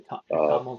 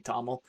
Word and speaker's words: TOML: Toml, I say TOML. Toml, but if it's called Toml sounds I right. don't know, or 2ML, but that sounds like converted to machine learning, so I just say Toml.